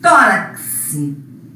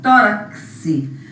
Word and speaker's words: tórax: O X com som de que C representa mais um fonema. Ó, tórax. Aqui a gente pronuncia como se fosse isso, ó, tórax.